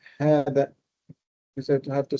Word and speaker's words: هذا: Now you have to pronounce هذا fully because it is a full alif. It is not just a kasra. هذا.